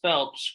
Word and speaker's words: Phelps: uh and then um your last name is pronounced Phelps correct y like Michael just getting everything clear